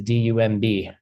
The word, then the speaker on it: dumb: The way you spell dumb in English is d u m b. But you don't pronounce the b. You just say dumb.